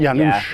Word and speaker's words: Janusz: The latest episode of Great British Bake Off surprised viewers when contestant Januz Domagala? Is that how you say it? Janusz.